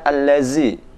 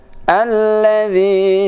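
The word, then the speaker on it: الذي: Nah, ini huruf dza. Sering terjadi kesalahan membaca huruf dza allazi. Alladzi yuwaswisu fi sudurin nas.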